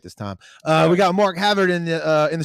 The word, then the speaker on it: Mark Havard: said it right this time uh we got Mark Havard in the uh in the studio here from